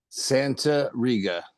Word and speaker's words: Santariga: last name for me I don't want to mispronounce it Santa Ria Al Santa R um and before we get